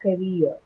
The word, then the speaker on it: career: So it has 2 syllables there. So first is the ka, and then there's rear, which is your second syllable, right?